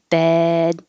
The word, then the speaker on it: bed: a vowel after it the vowel here is e like head so if your tongue is too high it could sound like bid and if it's too low it could sound like bad and that's the most